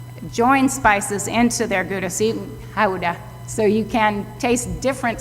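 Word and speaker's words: Gouda: pronounce this cheese wrong it's really Howa that's the proper pronunciation if you're in Holland it's Howa but of course excuse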